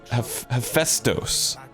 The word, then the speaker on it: Hephaestus: Oh, it's Hephaestus. Hephaestos is how you say it.